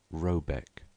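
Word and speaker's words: Rabaek: called r a b a e c k pronounced something like robc though that is not its name it is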